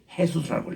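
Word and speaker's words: Jesús: 우리 한국에서는 예수라고 번역하고 영어에서는 지저스라고 발음을 읽고, 그리고 이거를 꼭 같은 말인데 JESUS는 스페니시는 이 J 발음을 H로 읽어요. 헤수스라고 읽어요.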